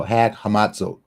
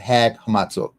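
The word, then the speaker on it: Chag HaMatzot: as long as it's unleavened bread okay so hag hamat that's how you pronounce it hag hamat hag hamat just want to make sure I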